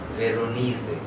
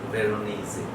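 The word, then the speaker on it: Veronese: তো শব্দের শেষে হচ্ছে ই উচ্চারিত হবে, দ্যাটস কারেক্ট, কিন্তু এস এর জন্য উচ্চারণটা হচ্ছে বর্গীয় জয়ের মতো, ভেরোনিজে, পাওলো ভেরোনিজে।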